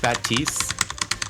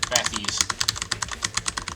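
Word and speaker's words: Bathys: and FAL is French it's pronounced batis because that's the French pronunciation but it's spelled out bathies as in like bath and then H and then Y and then s bathies yeah bathies traditional French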